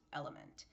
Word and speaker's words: LMNT: LMNT, but pronounced element.